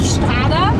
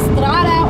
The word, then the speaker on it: strada: it back into strada-mode it's strada (Italian pronunciation) That's what I've just learned not: strada (German pronunciation) so we have the strada, sport how do you say sport in Italian?